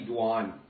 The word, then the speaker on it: Doan: Yeah, Doan is best. You know, that's Americanized, but Vietnamese is actually Duan. Duan, okay. Which one do you prefer? Doan, because everyone knows me by Doan.